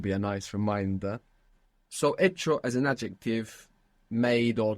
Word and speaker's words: hecho: Because in a phonetic change that occurred in Spanish, many F's became silent H's.